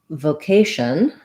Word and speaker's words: vocation: In vocation, we do use the O sound, but the K syllable is stressed. So my vo syllable, even though I use a clear O, is going to be pretty short.